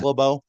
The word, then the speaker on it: LeBeau: appreciate that yep you said it right leau I am a certified industrial hygienist I'm also